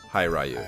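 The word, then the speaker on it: Hiryu: Yeah, it's definitely 2 syllables, so it's got to be Hi Ryu.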